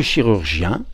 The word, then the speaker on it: chirurgien: avec sa main, chiroptère, et le chirurgien, alors on prononce chi cette fois, qui opère avec ses mains.